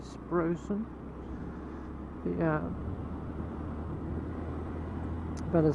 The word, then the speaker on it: Sproxton: No, there is one leading into Sprosen, as this village is, although it's spelled Sproxton, it's actually Sprosen.